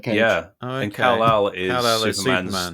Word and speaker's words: Kal-El: One of them, I think, one of his kids is called Kal-El.